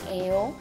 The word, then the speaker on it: 예요: Người Hàn khi nói chuyện rất hay lược bỏ tiểu từ chủ ngữ 이가 và rất hay phát âm 예요 thành 에요 nên câu này người Hàn sẽ nói là 여기 어디예요?